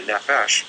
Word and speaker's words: nephesh: The nephesh, pronounced nephesh, is the so-called lower realm, the water beneath the wind.